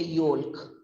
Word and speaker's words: yolk: eat the egg yolk we don't say yolk it's yolk y o h k yolk next is probably probably